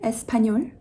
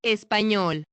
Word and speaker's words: español: This is not español, it's español, español.